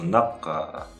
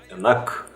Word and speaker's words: нақ: Точно так же Адам Альбертович произносит его как нак, то есть переднюю букву произносит к. На самом деле буква А, И, буквы заднего ряда, звуки заднего ряда, и соответственно буква К заднего ряда.